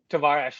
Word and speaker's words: Tavares: Tavares is apparently how his name is pronounced.